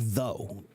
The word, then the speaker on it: though: So for example, um the word though, t h o u g h. Everybody wants to know why why do you have o u g when you don't say anything, right? Well, there is a good reason because the original pronunciation was different. The original pronunciation was the and it had that same sound. We used to have that sound in English.